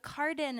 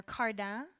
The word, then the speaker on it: Cardin: supposed to be pronounced well so I say it the French way I say k but you can say but Carden is perfectly F fine or cardan that's like the English French way you know but Carden